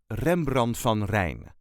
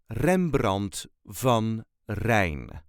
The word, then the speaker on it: Rembrandt van Rijn: way us duchies say Rembrant Von rain Rembrant V rain there is no real emphasis on any part REM BR Von rain